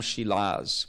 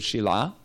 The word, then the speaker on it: Shila: So it did mention that he went and got a lot of Shalagram Shilas. Nobody in ISKCON will say the word Shila, but that's actually how it's pronounced.